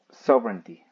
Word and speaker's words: sovereignty: La siguiente palabra es soverey. Soverey. Yes. Así se pronuncia.